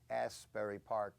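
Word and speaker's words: Asbury Park: of the toxic ofer Asberry Park Asberry Park New Jersey which does have the word ass as first syllable so it's very good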